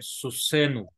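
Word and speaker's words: סוסנו: So here that nu is added, susenu. Susenu. Note that accent is over the last syllable only. Accent is not shifted to pronominal suffix.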